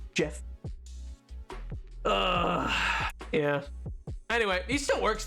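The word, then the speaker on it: Geoff: oh my God yeah it's GE e o f f instead of Jeff but it's yeah pronounced Jeff yeah anyway he still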